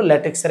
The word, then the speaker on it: ল্যাটেক্স: তো এটা হলো ল্যাটেক্সের একটা প্রবলেম। ল্যাটেক্স, এখানে লাটেক্স লিখছে, আসলে উচ্চারণ হবে ল্যাটেক্স, হ্যাঁ, জফলা দিয়ে।